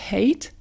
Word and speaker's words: hate: Sache que cette règle s'applique également à d'autres verbes, notamment to love, adorer, to hate, détester. N'oublie pas de prononcer le H aspiré, to hate, détester, et to prefer, préférer, to prefer.